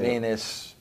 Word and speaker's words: Venis: But, Venis, what rhymes with that?